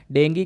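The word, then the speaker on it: dengue: डेंगू exactly क्या है? डेंगू कह लो या डेंगू कह लो, दोनों ही यहाँ पर कह लेते हैं, यहाँ पर प्रोनाउंसिएशन दोनों तरीके से है।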